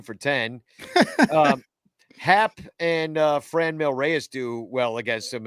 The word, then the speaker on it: Franmil: No, but you have to say Franmil. But you have to say it. In order to say it right, you have to say it in an accent.